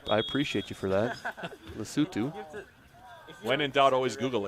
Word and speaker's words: Lesotho: Matt, I thought it was Lesotho, and you came in here and pronounced it as it should be, and I